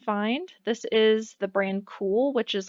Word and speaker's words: Kuhl: It's pronounced cool and it's spelled Kuhl as you see here.